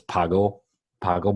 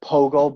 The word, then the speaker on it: Pogo: this I think it's Pago Pago ball instead of a p right yeah it's said I think it's like Pogo ball Pogo ball and Pogo it's Pogo what am I saying pgo